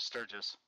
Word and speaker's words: Sturgis: Is that I'm hoping I'm pronouncing his last name Sturgis. Right. Sturgis.